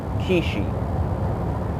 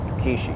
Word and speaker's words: Quchee: And this being said, in translation in your language, it's pronounced as Kwee-Shee, okay? And that's the name, Kwee-Shee.